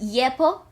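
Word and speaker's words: 예뻐: With the pretty and Yeppi, which because it's Yeppo in Korean.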